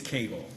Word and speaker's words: Cagle: Have I mispronounced your client's name? It is Cagle.